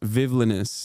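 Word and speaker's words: Vivllainous: But yeah, she also said it's pronounced villainous, like the word villainous, not villainous.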